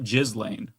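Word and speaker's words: Ghislaine: No, it's you got to emphasize the jizz. Um that's just how it's pronounced. It's British.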